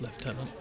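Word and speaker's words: lieutenant: stuff going on about his left tenant Governor by the way that's how you pronounce leftenant um and he's more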